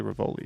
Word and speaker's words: Rivoli: The Rivoli. Why would I say Rivoli? It's supposed to be pronounced Rivoli, but everyone says Rivoli.